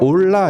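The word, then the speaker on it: עֹלָה: 거룩한 상태를 번제라고 하고 이걸 히브리어로 올라 이렇게 발음하거든요.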